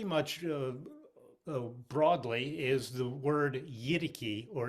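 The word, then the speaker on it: yidaki: that's accepted pretty much broadly is the word yidiki or yadaki and that's spelled y-i-d-a-k-i yaraki and in some areas yaraki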